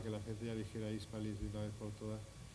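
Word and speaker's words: Híspalis: lo latino de hispalis, que debe decirse hispalis, por cierto, con acento en la I, a pesar de que no venga el acento, pero es una palabra latina, pero es hispalis.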